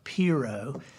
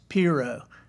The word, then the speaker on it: pirogue: Yeah, it's pronounced pirogue. That's what the Cajuns say.